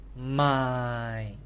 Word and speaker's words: 卖: My. Sell is going down, fourth tone. My. So the fourth tone you have to pronounce louder. It's more powerful. It's a falling tone.